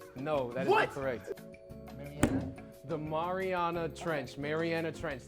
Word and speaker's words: Mariana: The Marina Trench is incorrect.